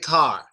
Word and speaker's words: car: which isn't good, because when you have a vowel as an A, what you typically need to do is drop your jaw when pronouncing it. So it's not just call.